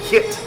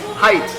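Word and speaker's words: Hite: got the extra cold hit it's called hit right hit extra cold height okay i got pronounced korean that was in korean it's height height extra cold beer and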